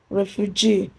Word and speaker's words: refugee: Refugee, first label from the right, that's GEE.